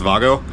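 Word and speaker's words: WAGO: problem I was not able to use those weo connectors actually it's pronounced Vago turns out I've got a whole bunch of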